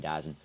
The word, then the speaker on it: DAZN: Yeah, I mean, I'm a bit too lazy to do the full pronunciation, DAZN.